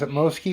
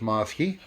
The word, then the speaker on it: Mosky: beatbox preamp by maaske I've heard some people pronounce Atmos key or most guy I'm pretty sure it's mouse key this is to the